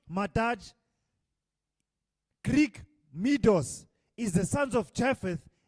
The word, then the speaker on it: Madai: Madai, pronounced Madaj, Greek Medos, is the